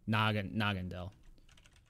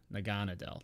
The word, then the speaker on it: Naganadel: I know how to spell it, though. Dragondel. No. No, what is it? Nagandel. Yeah. Naganadel.